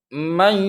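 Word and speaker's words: من يقول: Contoh dalam tulisan mayyaqulu, contoh mayyaqulu, mayyaqulu. Jadi dengungnya itu cukup 2 harokat atau 2 ketuk saja.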